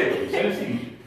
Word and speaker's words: synesthesia: Don't worry about it, just say it with me, synesthesia. That's your whole rhythm, because there's so many syllables. It's synesthesia, right? So you got all them syllables, you got to Millie Rock the syllables out of that thing.